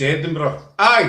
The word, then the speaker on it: Edinburgh: We pronounce it the Iowa way. Edinburg. Oh, Edenberg. I've heard that. It's Edinburgh.